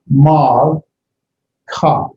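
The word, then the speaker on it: מַלְכָּה: Now here we have Mal, the Mem, the Patek, and the Lamet with the Shava is one syllable. Mal, Ka, Malka. Malka is queen.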